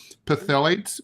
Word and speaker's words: phthalates: I don't know how to pronounce this. Phthalates, P-H-T.